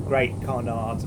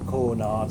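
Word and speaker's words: Great Cornard: We're going through Great Connaught, or Cornard, they pronounce that, and Bewers.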